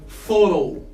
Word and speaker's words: thorough: So as you can see, we can't spell this as rough. I know that we have this word in English, rough. Rough means something sharp. But in this specific word, we spell rough as raw.